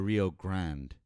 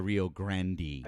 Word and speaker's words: Rio Grande: It's the Rio Grand. No one says the Rio Grandi. That's Grandandy. No one ever pron No one in Texas has ever pronounced it that way.